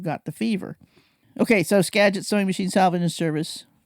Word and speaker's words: Skagit: I told him I was legit because I knew that Skagit rhymed with legit and I grew up in Squim.